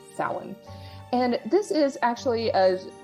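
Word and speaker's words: Samhain: and it's called Salad I'm going to spell that for you s-a-m-h-a-i-n and um I know for English speakers in spelling it doesn't seem to match but just trust me on this one you pronounce it sound and this is actually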